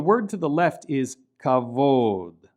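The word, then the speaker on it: כבוד: And notice that the vav here in this word represents an O vowel, kavod. Right? The bet is pronounced like a V because it lacks the dagesh.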